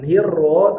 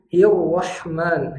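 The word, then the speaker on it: الرحمن: Jangan sampai ketinggalan riru contoh dalam Basmalah Bismillahir berarti rnya dibaca tebal kalau ketinggalan Bismillahir hirro berarti ketinggalan hirro jangan hirro tapi hirrahman hirrahmanir nirrahim Nir jangan nirro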